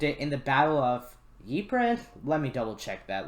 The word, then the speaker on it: Ypres: it and used it in the battle of ypres let me double check that let me take a break and i'll come back with the correct pronunciation so according to the video it's called eepra i don't know i'm gonna send a put